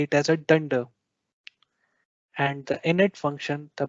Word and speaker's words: dunder: to our slide for more details python thunders dunder method name is a common pronunciation for python's built-in method name that starts